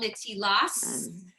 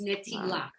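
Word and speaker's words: נטילת: the more orthodox settings, they don't pronounce the t as a T sound, but more of an S sound. Yes. But since we're teaching you from a conservative view, it's netilat.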